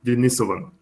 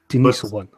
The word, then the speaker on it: Denisovan: Anyway, but just for Jesus, how do you pronounce that? Denisovan in Russia. I always forget that. From what I read, it's just Denisovan. Denisovan.